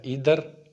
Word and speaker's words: either: جو لفظ ایدر ہے اس کو آئدر پڑھتے ہیں اور نیدر کو نائدر پڑھتے ہیں. یہ تلفظ غلط ہے. جو ٹھیک پروننسیشن ہے وہ ہے ایدر اور نیدر.